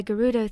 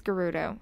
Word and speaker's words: Gerudo: was taken over by Garuda thieves and some people pronounce a Dorito it's Gerudo I don't [ __